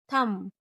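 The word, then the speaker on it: thumb: बी जब एम के बाद और टी के पहले आए तो साइलेंट रहती है। जैसे बम, थंब, क्लाइम, डाउट, डेट और सेटल।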